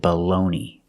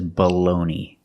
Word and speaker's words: bologna: don't speak Italian but in America we pronounce it baloney I don't know why I don't know what happened but that's how we pronounce it this is baloney the first vowel is not stressed so it has a short sound it's a schwa baloney the second syllable stress it's the long o like know and go balloon and the g is silent and the last syllable